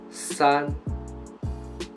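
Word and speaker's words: 三: and with the first tone it means it pronounces son son son which means three 300 million that's son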